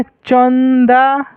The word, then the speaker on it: चंदा: लेकिन यहां पर म का उच्चारण आ रहा है ना? चंपा और यहां पर पढ़ गए तो क्या आ रहा है? चंदा।